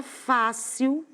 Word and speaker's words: fácil: repetir o mesmo exemplo, é a palavra fácil, porque eu tenho a penúltima sílaba mais forte.